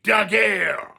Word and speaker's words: Daguerre: That's exactly how you should say his name, Daguerre.